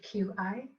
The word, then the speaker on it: Qi: pay attention to it something called Chi this one is she like Qi which we translate loosely as energy so what you need